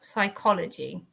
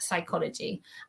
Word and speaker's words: psychology: That's a tricky word to pronounce, psychology. Okay, silent P there. Okay, silent P. Let's highlight that in red. And psychology.